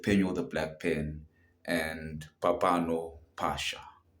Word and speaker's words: Phapano Phasha: convo episode with Po the Black Pen and Papano Pasha, right? Did I pronounce that correctly? Yes. Yes, I pronounced that correctly. Papano Pasha.